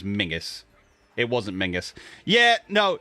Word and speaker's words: Menzies: a guy's name was spelled memesies and was pronounced memses it was mingus it wasn't mingus yeah